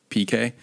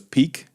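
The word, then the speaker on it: pique: I just figured out that word is actually pronounced PK I always thought it was Peak you know the word p-i-q-u-e yeah it's a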